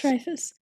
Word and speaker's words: Dreyfuss: Dreyfuss.